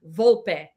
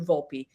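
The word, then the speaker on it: Volpe: Vulp. That's how you pronounce it. Okay. I asked Anthony, "Do you want it to be Vulp or Vulpi on the radio because I want to make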